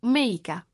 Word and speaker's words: Mexica: stessi con nomi di mexica pronunciato meica la Repubblica del Messico